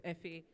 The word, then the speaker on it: Efe: So Efe is Yoruba, but I'm Benin, so it's Efe, F-A-E-A.